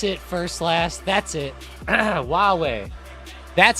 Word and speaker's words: Huawei: Huawei that's it first last that's it Huawei that's how you say I knew that it was a really weird pronunciation but I I forgot I actually haven't